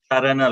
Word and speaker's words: Charana: So yeah, so when we say this word, they see that C here in when it is in Sanskrit, that C is pronounced as cha. Charana loka.